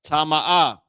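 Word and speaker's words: טמא: Now here's a good example another good example because neither one of these are connected right tama. Okay this is how it's pronounced ta ma ah.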